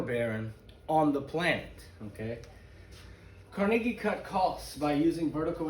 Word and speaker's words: Carnegie: carnegie steel by the way in america we pronounce it carnegie but his real name from scotland is carnegie uh he sold carnegie steel in 1901 to